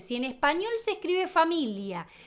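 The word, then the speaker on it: famiglia: Familia en español, en italiano se escribe familia, pero la g, la gono. Cuando vos veas una G con una L, la G no se pronuncia. Entonces, si en español se escribe familia y se dice familia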